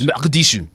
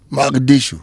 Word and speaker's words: Mogadishu: How is it pronounced? Mogadishu. Mogadishu.